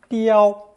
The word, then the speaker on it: 雕: And finally, our 5th character, also taking 照 as its phonetic element, this time pronounced first tone, 雕, 雕.